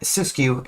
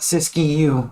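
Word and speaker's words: Siskiyou: she did although CIS I'm gonna give that cisu it's not sisy youu we don't have to put that extra syllable in there it is also a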